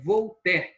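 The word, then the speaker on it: Voltaire: é o walter aí tá escrito voluntária mas é vou ter que a gente pronuncia tá bom pode ler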